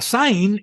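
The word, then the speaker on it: זַיִן: igual que la es la saín es igual que la z inglesa se pronuncia enunciando una s sibilante a la vez que se hacen vibrar las cuerdas vocales como cuando se imita el sonido de una abeja entonces sé que significa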